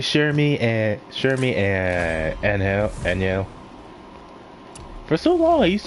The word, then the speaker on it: Angel: Same thing with others like Shermie and Anyel. For so long, I used to call her just Angel because I just spell it based on how it looks.